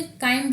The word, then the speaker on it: chyme: ना चाइम नहीं बोलेंगे, काइम बोलेंगे, एच साइलेंट रहेगा यहाँ।